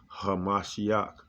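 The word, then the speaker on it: המשיח: In the ancient Paleo Hebrew, it's pronounced Hamashiach.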